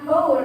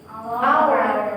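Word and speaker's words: hour: Jadi di sini jawabannya itu inor incorrect karena harusnya itu kan H itu dibacanya bukan hor tapi our.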